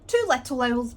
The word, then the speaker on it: 2lilowls: to the Lyle's Studio it's Two Little Owls but it's spelled l-i-l so I will link